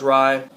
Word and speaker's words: Rei: The second is Rei, or I believe it's pronounced Rai.